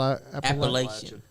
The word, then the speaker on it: Appalachian: saying it right Apple Appalachian Appalachian Appalachian you can say Appalachian appellation to get you slapped I think that's what